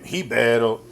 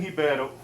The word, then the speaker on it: Ribeiro: Y'all love saying that name. Hiebatal. He's Brazilian, so that's how you pronounce the R for those of you guys that don't know that. So, Brenson Hiebatal and uh Abdul.